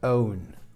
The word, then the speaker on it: own: No, se pronuncia own. Own. Igual que la primera regla que dábamos de pronunciación de la O, donde pronunciábamos esa E al revés, esa schwa, más una U, own.